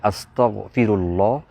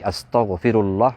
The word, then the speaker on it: আস্তাগফিরুল্লাহ: যারা বলে থাকে আস্তাগফিরুল্লাহ অর্থাৎ গইন এর জায়গায় ছোট কাফ আস্তাগফিরুল্লাহ ভুল উচ্চারণ করে থাকে কেউ যদি আস্তাগফিরুল্লাহ শুদ্ধ